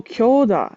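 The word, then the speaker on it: 強打: Oh, kyoda is how strong punch is pronounced.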